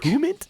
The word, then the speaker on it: debridement: He's had some shoulder debridement procedure last week. Debridement? Yeah, debridement. I had to look up how to pronounce that.